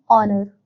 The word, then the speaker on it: honor: an honest man, an honor. We use an before the words are honest and honor because in these words the h at the beginning is silent.